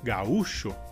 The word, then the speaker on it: gaúcho: E a diferença seria que em espanhol a sílaba mais forte seria a primeira, gau, e em português seria u. Nesse caso, a palavra gaúcho em português recebe um acento agudo na letra U.